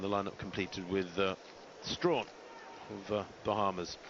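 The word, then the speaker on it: Strachan: in seven and the lineup completed with uh Strawn of Bahamas it's spelled Sten but pronounced Strawn the Bahamian in Lane eight taking a little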